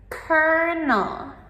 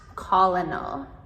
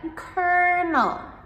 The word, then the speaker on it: colonel: colonel Not colonel. But, colonel. So, the hard k sound in the beginning and then just "er" "nel".